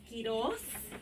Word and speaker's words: Quiroz: It's Quiroz.